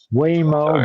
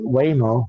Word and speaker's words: Waymo: We covered all we covered all those more Whimo. Don't forget Whimo. Self-driving cars. Whimo.